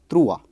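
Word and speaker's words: trois: 3 is trua.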